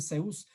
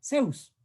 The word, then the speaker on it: Zeus: Y entonces de Zeus, ustedes saben que cómo se pronuncia en español correctamente el Zeus. Nosotros le utilizamos directamente como una S, pero en realidad es más suave, es casi como una D, ¿no es cierto?